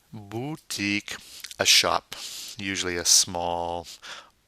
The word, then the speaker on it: boutique: by then we have une boutique now remember the French you is not a you it's a boo and to do that we go e keep that e sound going and making with your mouth ye mmm boutique a shop usually